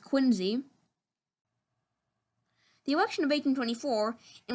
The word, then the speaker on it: Quincy: son of john adams and yes it is pronounced quincy the election of 1824 in which adam was